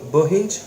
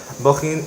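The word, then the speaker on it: Bohinj: I was with Boban from the organization of the Jam, Motor City, Metal Days, of many festivals in Tolmin, and I pronounce Bohin, okay, Bohin in Slovenia.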